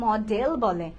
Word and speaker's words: modal: এটাকে কিন্তু অনেকে মডেল বলে যে মডেল ভার্ব, কিন্তু উচ্চারণটা মডেল না, উচ্চারণটা হচ্ছে মোডাল। ইভেন রাইটিং এও মোডাল, ইটস নট মডেল। Okay, so এই মিস্টেকটা আমরা কেউ করবো না, আমরা বলবো মোডাল ভার্বস।